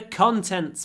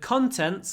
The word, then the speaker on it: contents: book contains it's the contents page what the book contains but the stress moves contains second syllable contents first syllable open your mouth contents contents okay number 93 what's in